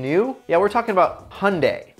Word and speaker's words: Hyundai: yeah we're talking about hyundai which rhymes with sunday and their genesis hyundai